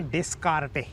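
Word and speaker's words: Descartes: अच्छा क्योंकि ना फ्रांस में एस बीच में बड़ा बहुत चीजों में लगता है। साइलेंट हो जाता है। हां तो बाद में जब फिर ये लैटिन में आती है, इंग्लिश में आती है तो ये एस साइलेंट हो जाता है और फिर धीरे-धीरे एस निकल ही जाता है नामों में खासकर।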